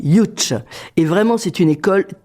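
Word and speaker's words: Łódź: C'est l'école de ça s'écrit Lots L O D Z mais ça se dit Ych et vraiment c'est une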